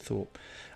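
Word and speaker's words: Tharpe: It's actually Tharp, Thrp, but I'm sure you could pronounce it Thorpe.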